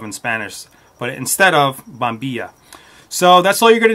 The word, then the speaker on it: bombilla: want to pronounce it in Argentina and Uruguay they pronounced a bomb be shot on be shot the Double L is more of like a shot or jaw sound and everywhere else in the world they usually say bombilla I lived in Argentina